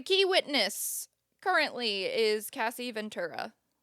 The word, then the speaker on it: Ventura: The key witness currently is Cassie Ventura. I'm going to say Ventura because I've been saying that forever, but I think it is Ventura the way that you pronounce it.